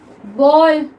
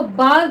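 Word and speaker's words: ball: Next देखिए बॉल, B double L, क्या हम इसको बाल तो पढ़ते नहीं है, क्या पढ़ते हैं हम इसको?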